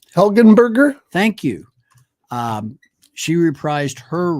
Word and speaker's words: Helgenberger: with the exceptions of one person who, Marg Heldenberg. I can't say her name. Helgenberger.